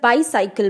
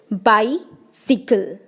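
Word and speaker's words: bicycle: इसे बच्चे अक्सर बाईसाइकिल बोलते हैं, लेकिन ये गलत प्रोनाउंसिएशन है. इसकी सही प्रोनाउंसिएशन है बाईसिकल, BAI, बाई, SIKL, सिकल, बाईसिकल, नॉट बाईसाइकिल.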